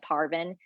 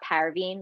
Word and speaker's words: Parvin: Hudson read my name tag, pronouncing it Parvin, even though, and not Parveen like Ruth and Fabian did.